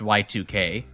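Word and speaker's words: YIIK: um I realized that apparently uh you know uh hit postmodern classic RPG Yik is actually probably meant to be pronounced Y2K because of you know the two eyes being Roman numerals I never put those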